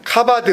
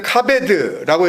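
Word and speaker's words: כבד: 그리고 공경하라는 말씀은 카바드 혹은 카베드라고 이렇게 발음을 하는데, 그 공경하라고 하는 그 단어는 원래 영광스럽게 여기다.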